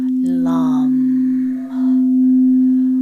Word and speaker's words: Lam: The vibration of the first chakra sounds like the word Lam. Lam. Lam.